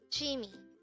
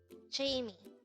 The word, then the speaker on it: 취미: 취미. 취미. This is pronounced as a two-syllable word. The first syllable is 취, second syllable is 미. Pronounce it with me. 취미.